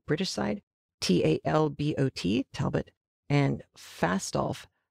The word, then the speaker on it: Fastolf: side t-a-l-b-o-t talbot and fast off i keep thinking it's a mispronunciation or a misspelling of falstaff that is not true it is f-a-s-t-o-l-f-e talbot and falstaff are